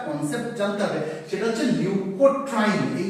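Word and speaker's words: leukotriene: এটা মুঝলাম প্রথমে কি শিখবো বললাম লিউকোট্রাইন কাকে বলে লিউকোট্রাইন অনেকে না এটাকে ভুল করে ভুল উচ্চারণ লিউকোট্রিন বলে উচ্চারণটা কিন্তু লিউকোট্রিন না উচ্চারণটা লিউকোট্রাইন কেন লিউকোট্রাইন সেটা বুঝিয়ে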